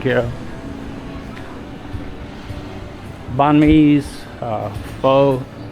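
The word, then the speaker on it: pho: of Bon me uh fo or fa is the correct pronunciation what I'm told not a problem here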